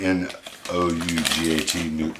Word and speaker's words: nougat: I believe it's spelled N-O-U-G-A-T, nougat.